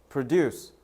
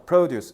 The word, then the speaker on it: produce: 그래서 내가 지난번에도 얘기했을 건데 이거과 이거 발음해 봐. Produce produce 뜻 두 개 달라요. 방금 말권이가 강사를 앞에다 줬잖아. Produce 이런 명사야.